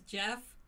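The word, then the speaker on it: Geph: His name is Jeff. It's spelled G-E-P-H.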